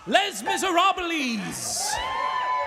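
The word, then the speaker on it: Les Misérables: in the evening when we cast les miserables i believe that is the original french pronunciation so okey dokey do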